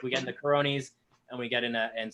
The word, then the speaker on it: Caroni: important question here yeah is it cara caroni because i always call it caronie then all these other people are called up kearny and i'm prone to pronouncing things wrong i def i desperately want to get it right so is it carony i i understand it caroni yeah and that's how